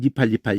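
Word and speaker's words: נִפְעַל: 근데 그렇게 안 하고 그냥 요 이 발음인데 닙 이래버려요. 요 글자대로 닙 이렇게. 그리고는 요것도 받침이 돼버리는 거예요. 아무것도 모음이 없잖아. 그러니까 닙 알 이렇게. 근데 연음이 돼가지고 니팔 이러는 거지.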